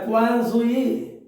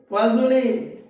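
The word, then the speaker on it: Poiseuille: तो इसका प्रोनाउंसिएशन होता है क्वाजुई, ये विदेशी में होता है, विदेशी लैंग्वेज में क्वाजुई, और इंडियन में पाजोले।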